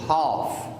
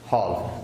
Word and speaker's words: half: and second second half in this one L is silent okay don't pronounce ale half not half not half okay how